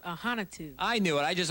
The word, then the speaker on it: Ahanotu: right we have a huntu how'd i do yeah well my last name's pronounced ahanitu i knew it i